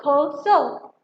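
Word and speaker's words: Xhosa: The word we will pronounce Koso.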